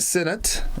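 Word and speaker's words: signet: It is spelled S-I-G-N-E-T. A synod. Yeah, synod.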